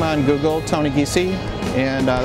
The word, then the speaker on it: Giese: Uh, you can just search up my name on Google, Tony Geese, and uh, it's spelled G I E S E, and, uh, pretty much pop up on there.